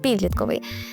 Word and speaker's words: підлітковий: І запам'ятайте, що у цьому слові зберігається наголос від іменника, від якого він утворився. Підліток, підлітковий. Ще такий лайфхак можна застосувати до слова визвольний, тому що від слова воля.